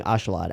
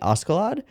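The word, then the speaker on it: Askeladd: I am going to continue saying Ashalad. After doing some research, it seems that the correct pronunciation would be Askalad, but the Japanese VAs are saying Ashalad, and I find that easier.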